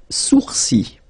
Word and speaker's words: sourcils: Les sourcils, les sourcils. Okay, so it's quite strange because you get this LS at the end, but then, well, you don't pronounce them.